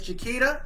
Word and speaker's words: Chiquita: So I always have told people that if you want to know how to pronounce my name, it is Chiquita, just like the banana, like the beer.